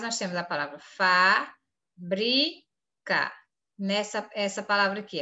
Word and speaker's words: fábrica: Preste bastante atenção e a palavra fábrica por exemplo ela é proparoxítona como é que eu sei disse o que é a sílaba mais forte é fa então última penúltima ou antepenúltima sílaba quando a antepenúltima sílaba é mais forte essa palavra é proparoxítona você vem aqui Fábio